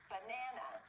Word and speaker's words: banana: Do you remember where the stress is? It's on the 2nd syllable. Banana.